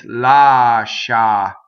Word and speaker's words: lascia: See, no, in Italian it's lascia. Lascia, right? You really do the sh.